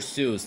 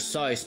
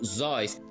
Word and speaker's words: Seuss: prononce en fait "Docteur SOISE" ou "ZOISE" Et l'explication de ceci est en référence aux origines germaniques de l'écrivain Tout comme "Soice" rime avec "Voice" Voice en anglais Et il y avait